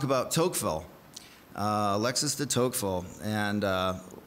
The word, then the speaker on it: Tocqueville: tocqueville uh Alexis de tocqueville and uh or when I was in the South people pronounced it talkful and you can say whatever you like but there was